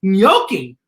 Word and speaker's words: gnocchi: that sounds like it sounds like it starts with an n but it starts with a g i correct it's gnocchi g is for gnocchi the